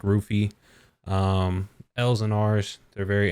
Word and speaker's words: Luffy: Which can, like in Luffy's case, it would be Luffy, right? And like, but when it's pronounced, it sounds like Rufy.